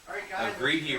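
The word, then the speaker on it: Greitje: Her mother was a lady by the name of Greety Reiners. Greety Reiners. Greety Reiners. Greitije is how you spell it.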